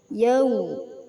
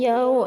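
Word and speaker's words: يَوْمِ: wawu sukun didahului fathah yau bacaannya u yau bukan yao ya bukan o tapi u yaau cara membacanya sekedar lunak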